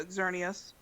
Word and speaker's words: Xerneas: And this person's doing turning a doll into Xerneas. Is that how you pronounce it? Yeah, Xerneas.